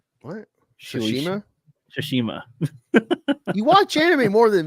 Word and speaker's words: Tsushima: So there's a video game called Ghost of Shimashu. Just kidding. Shimisha. Right. What? Tsushima? Tsushima.